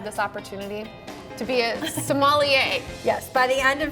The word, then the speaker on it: sommelier: did I say it wrong so so yay so Molly yes yes we're gonna teach you the ropes